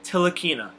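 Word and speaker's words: Ntilikina: right into it and I'm pretty sure I've got the pronunciation down for Frank Tillich inna I think that's how it's pronounced I think the the N is salad from what I whatever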